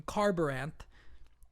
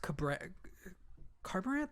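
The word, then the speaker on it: Kharbranth: We meet a young woman named Shallan in Carbaranth, or I think it's pronounced Carbaranth? Yeah, I think that's right.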